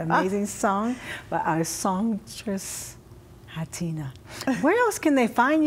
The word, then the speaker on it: Ha'Tina: going to hear that amazing song by our songstress, Hatina. Where else can they find you when they're looking for you? Social media. Sites. Okay, wow. A little bit. So it's Hatina's Music. It's Hatina, S as in Sam, Muzick.